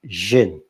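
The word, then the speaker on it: xin: It's a X-I-N, another inflection, but it's kind of pronounced Jin.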